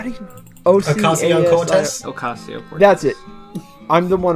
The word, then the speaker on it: Ocasio-Cortez: Forgive me if I'm mispronouncing this name. How do you? Ocasio-Cortez? Ocasio-Cortez.